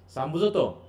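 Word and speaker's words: psalm: গানের সাম মানে গান সামতো এই পিএস এম উচ্চারণ বুঝে এটার কি বোঝা যাচ্ছে পিএস এটা এটা উচ্চারণ হবে সাম সাম কি ধর্মীয় সীতটা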